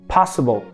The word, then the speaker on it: possible: Então vamos lá, olha só, sílaba tônica, pa, sílaba átona, s, é o schwa, e o bol. Bol é uma sílaba que a gente chama de semiátona, ela não é tão átona quanto a s, mas ela também não é tão tônica quanto a pa.